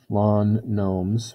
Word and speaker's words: gnomes: Let G equal number of lawn gnomes, with a silent G, of course, Gord has.